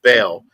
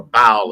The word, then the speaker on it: Baal: It's interesting because in even older linguistic systems, Yahweh literally was the same meaning as Baal, Baal, which meant, or Baal, as some people pronounce it, which just means Lord, a Lord.